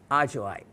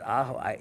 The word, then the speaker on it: ajoite: right and pronounced it ahoite. You know, in Spanish, the J sounds like an H.